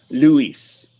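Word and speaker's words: Luys: not short for Lucifer her full name is Luis it's spelled exactly how it sounds l-u-y-s well damn that's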